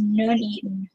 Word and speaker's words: Nuneaton: Box says his place is pronounced Nuneaton. That's Nuneaton, UK.